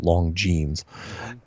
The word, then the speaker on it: Longines: So he goes on this show called The Longines Chronoscope, which is spelled Longines, but it's pronounced Longines.